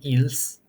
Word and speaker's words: ils: C also does not elide before il or ils. Well, both are pronounced il, so don't get it twisted.